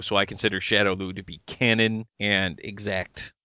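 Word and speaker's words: Shadaloo: Hey, to be fair, there's a whole bunch of different pronunciations that I've seen, be Shadow Lu, Shadow Lao, Shadow Law, so whatever. Whenever I'm in doubt, I default to whatever Raul Julia has said. And he said Shadow Lu, so I consider Shadow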